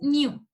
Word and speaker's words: knew: Y el pasado es knew. Es know y knew. Aquí también tal vez se pueden confundir un poquito con la pronunciación, porque hay una palabra que se pronuncia new y eso significa nuevo.